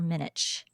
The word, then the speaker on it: Minich: I'm saying this right is it Dr minck or Dr minich minic you've got it I said it wrong yeah it's like mic yeah okay got it